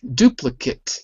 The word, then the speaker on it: duplicate: Duplicate, not Kate. Kit. Duplicate.